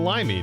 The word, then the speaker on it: Limey: comes crashing vaulted dream try saying my name again but think of a lime Mr limey did did I not say that I said limy didn't I sorry my